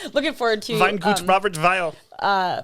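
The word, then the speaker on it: Robert Weil: a huge seller but uh we really like robert vile they are a super family producer uh remember it's spelled w-e-i-l i know i'm really looking forward to saying looking forward to it robert viall uh pronouncing all of these so that's fun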